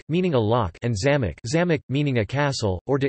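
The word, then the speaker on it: замок: as to distinguish between homographic words, for example zamok, meaning a lock, and zamok, meaning a castle, or to indicate the proper pronunciation of uncommon words or names.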